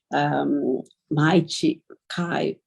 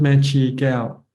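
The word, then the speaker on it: Mae Chee Kaew: My Kai. So it really inspired me because you read a lot about. It's pronounced Mechi Gao. Mechi Gao. Mechi Gao. Just to correct your it's pronunciation.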